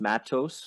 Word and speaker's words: Matos: I think it's pronounced Matus Matos.